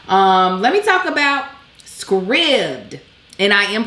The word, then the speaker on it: Scribd: let me talk about scribd and i am pronouncing it right because somebody was like don't you think it's wrong they give us the pronunciation script like ribbed or filled see i know how